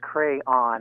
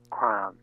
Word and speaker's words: crayon: On page 70, it says clearly that it's salve, S-A-V, and that it's crayon in 2 syllables, not one, or triphthong, crayon.